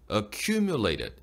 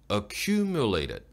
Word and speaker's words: accumulated: Accumulated Tally, Accumulated, U나 U에 강세가 들어가는 음절은요, 조금 더 길게 내밀어주세요. Accumulated, Accumulated, 예, 누적된 이란 말이죠, 축적된. U에 강세가 들어가기 때문에 입술을 쭉 내밀고 좀 밀어내주는 게 정확하고 또렷한 발음이에요. Accumulated. Accumulated. 뒤에 나오는 MU 음절은요, 강세가 없는 떨어지는 억양이기 때문에 힘을 안 줘도 됩니다.